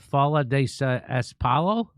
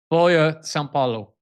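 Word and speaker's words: Folha de S.Paulo: Brazilian newspaper of I don't know how to pronounce that. Fa espalo, I guess. How do you say it, Glenn? Foya Salo.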